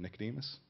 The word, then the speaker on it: Nicodemus: Bible um and it was actually uh going mispronounce his name Nicodemus that's perfect uh you know and how sometimes